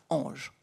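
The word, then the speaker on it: EJ: ces entités naturelles juridiques e j pour l'acronyme prononcé ange et il la développe.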